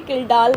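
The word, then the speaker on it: Kjeldahl: इसकी प्रोनाउंसिएशन है किल्डाल मेथड।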